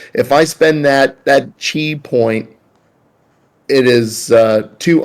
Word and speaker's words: chi: a she point uh it's not pronounced key is it c-h-i-g yeah thank you oh